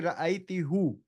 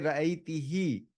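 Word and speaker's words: رأيتِهِ: So that's why for vocalic harmony, so make it better for speaking, you say ra'aytihi, because ra'aytihi is easier to pronounce than ra'aytihu.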